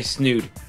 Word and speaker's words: Snood: I'm gonna play Snood. Snood? What's Snood? Okay. Okay. I don't know what Snood is. Before you do that, I'm gonna get this thing started. Okay. Snood sounds like it rhymes with nude, so it can't be good.